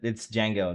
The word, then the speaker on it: Django: My favorite part was It's Django with a D. It's Django. The D is silent.